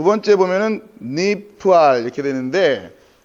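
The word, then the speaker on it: נפעל: 니팔 이렇게 되는데 니팔로 읽지 마시고 니프알로 니프알 니팔이 아니라 니프알이에요. 니프알. 이 여러분이 나중에 공부하실 때 훨씬 이게 수월합니다. 니팔이 아니라 물론 뭐 이거 틀렸다는 얘기가 아니라 그래야 체계적으로 정리가 돼요.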